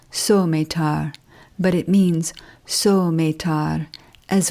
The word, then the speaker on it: Suometar: That word should be pronounced Suometar, but it means Suometar,